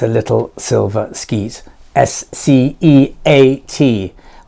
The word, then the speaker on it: sceat: S-C-E-A-T. I think it's sceat. This is the most popular pronunciation of it.